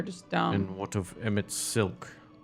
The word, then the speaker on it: Emet-Selch: And what of Emet-Selch? It's pronounced seltzer.